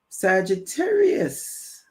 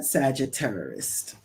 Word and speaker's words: Sagittarius: I still said it wrong. Sorry, Sagittarius. Not s Not Sagittarist.